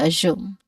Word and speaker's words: assume: Make sure assume has a smooth but rising tone on the second syllable. Reasonable to assume.